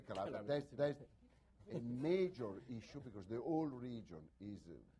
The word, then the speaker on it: Calabria: Calabria, yes, you say Calabria.